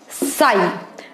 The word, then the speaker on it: psi: Now this is known as psi. This sign, it's just like a trishul, and this sign known as psi. Okay, P is silent in this. So this is the psi he has derived, and